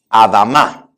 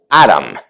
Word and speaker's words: Adam: Y aunque en inglés se escribe igual Adam, se pronuncia Aram, un poquito distinto.